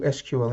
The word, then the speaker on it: SQL: Is it vulnerable to SQL injection, SQL injection? You can pronounce it whatever way you like, just avoid it.